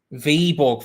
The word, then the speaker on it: Viborg: thing now you two you've started a thing v-borg thank you jumping j flash i am gonna need constant corrections on pronunciation because i am just all over the shop v-ball thank you thank you thank you thank you